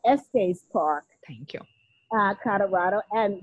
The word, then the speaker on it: Estes Park: the stanley hotel in est park colorado i hopefully i'm pronouncing it okay it's a beautiful location you were close it's the stanley hotel at estes park thank you uh colorado